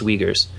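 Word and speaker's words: Uyghurs: are we girls spelled you why GH urs pronounced wiegers an ethic minority ethnic minority that's persecuted throughout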